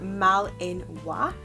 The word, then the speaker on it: Malinois: And the Belgian Mah-lin-wah were named for a Belgium city. The Belgian Mah-lin-wah, pronounced Mah-lin-wah, was developed in the Belgian city of Malinois.